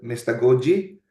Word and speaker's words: mystagogy: Or pwede mong basahin mystagogy. Or, ang sinearch ko, ang pag-pronounce nito is mystagogy.